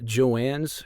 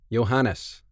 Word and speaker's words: Johannes: Johannes. Sorry, yes. Johannes. And she asks, do you speak... It's a he. And how do you say it again? Johannes. Oh, it's because I was reading it as Joannes.